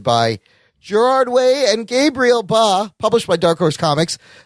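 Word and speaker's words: Bá: Gerard Way, Gabriel Ba, also co-executive producing on the show. I just like the last name, Ba. Ba. What's your last name? Ba. It's badass. just one syllable.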